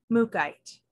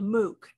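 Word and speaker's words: mookaite: earthy Jasper um yes m-o-o -k a i t e mukite I checked the pronunciation this morning to make sure I was saying it right so it is also sometimes called mooc m-o-o-k um now there's some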